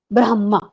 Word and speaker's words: ब्रह्मा: भी प्रकाश ा हां ये जो ह है ह जो है वह हलंत है ब्रह्मा क्या होता है यदि हम ब्रह्मा उच्चारण करते हैं ब्रह्मा तो जब ब्रह्मा उच्चारण करते हैं तो लिखते हम आधा म है तो बच्चों को यदि बताना है तो आप बताइए ब्रह्मा ह पहले आएगा ब्रह्मा है ना तो यह उच्चारण सही है क्योंकि यदि हम विद्यार्थियों